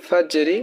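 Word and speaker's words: الفجر: জিম কিন্তু কলকলা হরফ তাহলে ফাজ আর রজের ফাজেরি ওয়াকফ করলে জজম হয়ে যাবে শুধু হরফের উচ্চারণ হবে ফাজর ঠিক আছে সালামুন হিয়া হাত্তা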